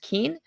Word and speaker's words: Kuehn: is remember I said my last name is pronounced Keen uh this was a